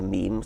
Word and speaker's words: meme: selection going um so I called it a meme so it doesn't exactly rhyme with Gene but it's sort of sort of short and and sounds vaguely similar and how did you